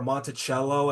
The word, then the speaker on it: Monticello: funny, actually, Geek, because here in Florida, so there's a town called Monticello or Monticello, as it's actually pronounced.